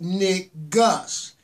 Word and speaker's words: Negus: what is being said the proper pronunciation is Nick Gus is spelled in e gu s and it's means king